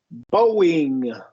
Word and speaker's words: Boeing: you look at, but when a syllable ends with the long O and the next syllable starts with a vowel, we're going to really emphasize that W. Boeing.